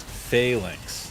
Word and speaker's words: Phalanx: Horde Mode Gaming says, Josh, I had to Google it, but I believe it's pronounced Phalanx. You're 100% right, at least in American.